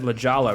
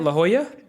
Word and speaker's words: La Jolla: what sort of so I butchered it earlier I said legala right yeah how do you say it La Jolla La Jolla I heard